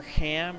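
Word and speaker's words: Hlam: you talk to Prior Ham or Clam or however it's pronounced, I mean it's spelled H-L-A-M, but I think they pronounced it Ham in one of the cutscenes, you'll be able to get extra experience points.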